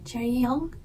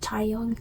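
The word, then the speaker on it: Chaeryeong: pronouncing her name right Cher Cherry young not Chong Cherry young this is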